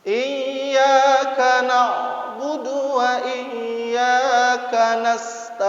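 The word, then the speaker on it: إياك: Iyyaka na'budu wa iyyaka nasta'in.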